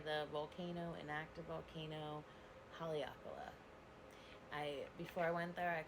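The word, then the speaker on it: Haleakalā: or let's just say the volcano, inactive volcano, Haleakala. Before I went there, I could not say that for the life of me, no matter how many times I was told exactly how to say it. Haleakala.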